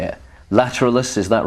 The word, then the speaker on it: Lateralus: this new lp how do you say it lateralus is that right lateralis lateralis right okay so that's how it's pronounced they were just better at doing the